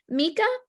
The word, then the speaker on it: Mika: Oh, Mika, I didn't say hello to you yet. Do you pronounce it Mika? Mika, yeah, that's perfect.